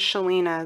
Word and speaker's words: Selena: if you're ever curious my middle name is Selena that is how you pronounce that I've never met anyone